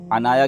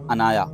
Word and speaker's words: عنایا: بھی بڑا وائرل ہے۔ عنایا کے بھی دو تلفظ ہیں، عین کے ساتھ اور الف کے ساتھ۔ الف کے ساتھ عنایا اس کا لغت میں